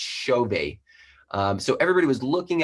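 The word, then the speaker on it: Xove: we already were calling xovi i'm going to exo-view and i landed there i realized very quickly that it's a portuguese pronunciation and it's it's pronounced chauvet um so everybody was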